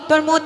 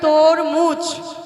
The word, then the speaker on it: তরমুজ: খাবো জানিস সখী বলো তোর মুদ খাবো এই সখী কি বলছো এদিকে হ্যাঁ ওই যে লাল কালারের হয়ে আর বাইরেটা সবুজ তোমার তো উচ্চারণই হচ্ছে না সখী হ্যাঁ ওইটা তরমুদ খাবো ওটাকে বলে তরমুজ ওইটাই হলো সখী ওটাই